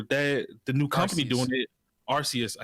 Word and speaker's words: Arceus: With the new Pokemon coming out, Legends of Acers, whatever, the new company doing it, Arceus. I said Acers.